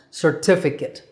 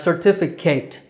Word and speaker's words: certificate: terrible joke but just remember that that last syllable is kit CIT with the stress on the second syllable T certificate number